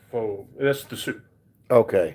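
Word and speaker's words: phở: It sounds like pho. That's the soup. Okay. It's pronounced pho. Pho, okay. Yeah, Americans don't say pho, but it's actually pho.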